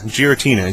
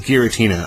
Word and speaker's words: Giratina: Pokemon from fourth gen Giratina Giratina I believe it's a hard G I'm at correct me